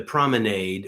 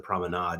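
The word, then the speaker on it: promenade: fancier English, but like to the prominade or the prominade if you're pronouncing it more like French or what part of the country in the US you're from, you pronounce it one or the other way.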